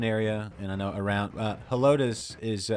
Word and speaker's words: Helotes: I don't think it's Elotes. No, yeah, it's Helotes.